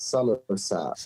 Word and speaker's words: Somerset: Somerset, is that how you say it? Somerset. Yeah. Yeah, that's it.